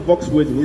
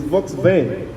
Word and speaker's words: Volkswagen: You know, we call it Volkswagen. It's not Volkswagen, it's Volkswagen. That's the pronunciation in German.